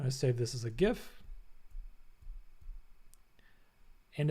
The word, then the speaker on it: GIF: Let's do exploration, and let's say this is like GIF exploration.